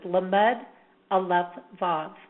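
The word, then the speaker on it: לאו: And again, the common name is banishing the remnants of evil, and the way the name is actually pronounced is Lamed Aleph Vav.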